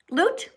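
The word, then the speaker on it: Lute: Uh, you you know you pronounced it right. Loot. Okay. Yeah. All right. Loot.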